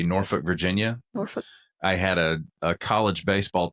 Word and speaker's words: Norfolk: Norfolk. I had a college baseball teammate that was from Norfolk, and he just said Norfolk. There was no emphasis on the L at all.